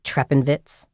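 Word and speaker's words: Treppenwitz: it's a German term called I'm going to mispronounce it but trepenvitz no so trepenvitz kind of means stare with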